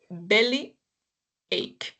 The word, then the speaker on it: bellyache: The pronunciation of this part is ach. Okay. So, belly ache.